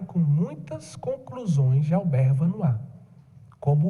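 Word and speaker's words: Vanhoye: Como é que se escreve Vanois, padre? É uma boa pergunta. V-A-N-H-O-Y-E. V-A-N-H-O-Y-E. Vanois. É porque é francês, Albert, com um Tzinho mudo no final. Albert Vanois.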